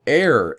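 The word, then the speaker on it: heir: more of uh spatial there's also air h e i r one who inherits property or space and the last one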